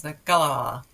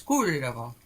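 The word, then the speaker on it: Kalevala: carswells john asked for uh speak pipe on pronunciation for a couple of things so here we go the finnish national epic is the gala i'll say that again and the hero who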